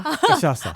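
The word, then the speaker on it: cachaça: 까이피리냐는 까시아사라는 술로 만드는 칵테일이에요. 까시아샤? 까시아사. 까시아사. 네, 제가 발음을 맞게 했나요? 네, 뭐 까시아사. 까시아사.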